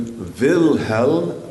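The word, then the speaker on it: Wilhelm: then you go to Vilhelm vice vilhelm which is German for William WIIL htlm vilho noirish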